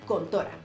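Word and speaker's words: 魂斗羅: Contra se llama así porque los caracteres del kanji en el arcade japonés se pronuncian Kontora y por eso en América se llamó Contra.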